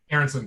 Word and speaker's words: Aronson: I'm pronouncing that right. Correct, Robbie? Robbie Aronson? Aronson, yeah.